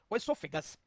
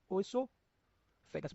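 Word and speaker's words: esophagus: Please note two spelling. E एस ओ पी एच ए जी यू एस। ओसोफेगस।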